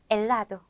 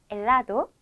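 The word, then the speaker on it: helado: 다음은 아체는 아체라 하는데요 아체는 무음이에요 소리가 없어요 그래서 엘라도 엘라도 온두라스 온두라스 우리 온두라스는 나라 이름이죠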